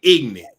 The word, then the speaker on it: ignant: you proper like that in California we say ignant ignant ignant two syllables yeah that's a combination